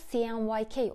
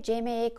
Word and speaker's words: CMYK: CMYK İngilizce cyan, magenta, yellow ve black kelimelerin baş harflerinden oluştuğu için doğrusu CMYK olarak okunması, ancak Türkiye'de CMYK olarak telaffuzu yoğun olarak kullanılıyor.